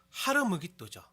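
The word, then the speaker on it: הר מגידו: 우리말과 영어 발음으로는 아마겟돈이라고 하지만 히브리어 발음으로는요 하르무기또죠. 아마겟돈, 하르무기또, 아마겟돈, 하르무기또. 네, 그 발음에 따라서 조금 다르게 들릴 수 있지만 같은 지명이에요.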